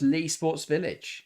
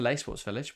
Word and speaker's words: Leigh Sports Village: Peter C says, hi, it's pronounced Lee Sports Village. Is it? Thank you very much, Peter, for the info. I've always referred to it as the Leigh Sports Village, but if it is